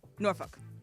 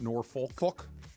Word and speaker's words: Norfolk: is from norfol yes how do you say it norfol okay that's the Virginia way to say it yeah not Norfolk folk yeah Norfolk nor okay not folk see you can say it like folk if you want to but that's not how you say it it's like in